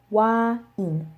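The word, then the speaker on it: 와인: The note here is that in English we have wine. It is one syllable, but that is because we have a diphthong. The diphthong is I, and this diphthong does not exist in Korean. So they have to say it in two separate sounds.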